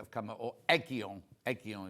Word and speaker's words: Aegean: Aegean is how you say it.